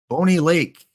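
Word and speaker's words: Bonney Lake: I hope it's not Boney Lake. If I'm mispronouncing it, please let me know, Max. Is it Bonnie like in Bonnie and Clyde? Or is it Boney like Boney M?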